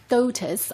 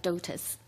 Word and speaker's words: DOTAS: Well, DOTAS, I think that's how the acronym is pronounced.